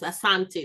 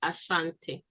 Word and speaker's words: Asante: The Asante, the proper pronunciation is Asante, not Ashanti.